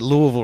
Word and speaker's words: Louisville: I don't want to defend the university on this, but you pronounce it Louisville, Rob.